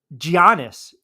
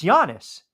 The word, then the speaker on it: Giannis: I called him uh uh Giannis or jannis well wait it's Yannis jannis Yannis yeah what the hell